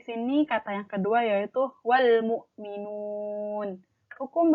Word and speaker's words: wal mu'minun: Alif lam kan suaranya itu L, maka L-nya dibaca jelas, wal mu'minun, bukan wam mu'minun gitu. Maka kita sebut di sini alif lam qamariyah, alif lamnya dibaca jelas, L-nya.